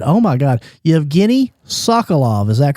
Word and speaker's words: Yevgeny Sokolov: And Yevgeny, tell the listeners a little bit about Yevgeny Sokolov. Am I pronouncing that correctly?